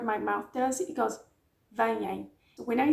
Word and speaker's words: veem: Vejo, vês, vê, vemos, veem, veem. This one is a hard one to pronounce. I know. But it goes veem, veem.